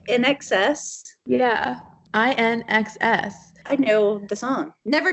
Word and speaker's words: INXS: is it did you say INXS yeah I an excess I know the song never tear us apart